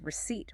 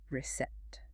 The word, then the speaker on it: receipt: And receipt, which is reset.